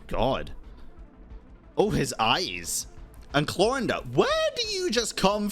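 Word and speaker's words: Clorinde: And Clorinda, where do you just come from? You gotta have been spying. Or Clorend. I gotta start calling her Clorend. That's how they pronounce it in game.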